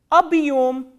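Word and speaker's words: объём: The first word I am going to tell you is abhyom, abhyom, abhyom.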